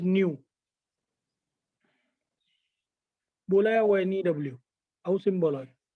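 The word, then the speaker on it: ν: That is pronounced as nu.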